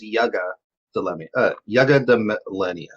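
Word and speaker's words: Yggdmillennia: We get to see the other side, the other army, the Yugo Millennia, who needs more. We're gonna have fun with that. The way they pronounce it is Yuga de Millennia.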